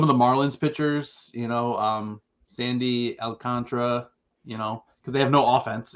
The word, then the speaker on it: Alcantara: So unders there, which I'm pretty sure it's Alcantara, right? But the announcers always call him Alcantara, and it like. Yeah, it's probably like New Yorkers on the broadcast. I think Alcantara? it's 4 syllables, but it's Alcantara. Like Alcantara. Alcantara is correct.